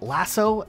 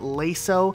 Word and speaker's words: Lasso: all skulls on is called lasso not lay so though this one technically could be up for debate just on pet peeve